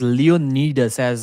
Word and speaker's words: Leonidas: His name is Leonidas as they pronounce it in his country. But he said since Leonidas sounds great, that's what I'm going with.